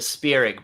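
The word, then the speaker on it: Spierig: who directed jigsaw daybreakers and Winchester uh the spear IG brothers that is correct and much more better pronounced than I would have pronounced it the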